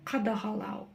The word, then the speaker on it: қадағалау: Қадағалау. Қа, қада, қадаға, қадағала, қадағалау.